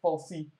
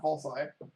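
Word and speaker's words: falsi: research and so on i can confirm that uh i think most people pronounce it falsely and not false eye although i'm sure that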